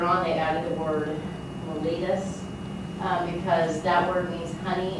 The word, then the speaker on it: mellitus: Diabetes is one of the oldest known diseases, and its official name is called diabetes mellitus. That's how you say it. Mellitus.